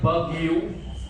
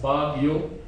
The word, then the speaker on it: Baguio: when they tried to write Baguio, they wrote it this way: B-A-G-U-I for gi, and then O for whoa.